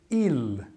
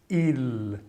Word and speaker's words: il: Então é um som quel, il, l. Não tem som de U, como é normalmente pronunciado o L no final de uma palavra na língua portuguesa.